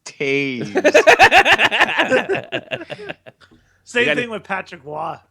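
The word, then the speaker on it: Toews: That's why it really shows that in high school, everyone was making fun of him, calling him Toes, and he was just like, "It's pronounced Taze."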